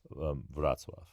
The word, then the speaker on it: Wrocław: And it's pronounced from listening to Polish speakers say it, Wrocław.